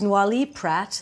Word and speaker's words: Noilly Prat: Now, this is Noilly Prat, that's how you say it.